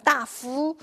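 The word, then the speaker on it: 大夫: 근데 옛날에 대부라고 할 때는 시다프라고 읽어요. 따프. 제가 잘못 읽는 게 아니라 따이프가 아니라 시다프즈주.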